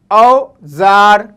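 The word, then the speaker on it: اوزار: ठीक, इसी तरीके से अलिफ वाव औ, जे अलिफ रे, औजार, औजार इंग्लिश में कहते हैं टूल।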